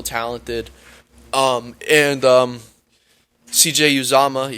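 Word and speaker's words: Uzomah: um and um cj uzama yes i finally uh pronounced it right i was saying uzoma uzama uh is uh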